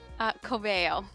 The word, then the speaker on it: Coveo: Well, how do you pronounce your employer's name? Coveo.